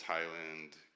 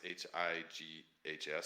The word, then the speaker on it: Highs: posts but his uh his name is Highland uh gamer hub sorry highs h i g h s sorry highs for getting your name wrong highest gaming Hub and he has his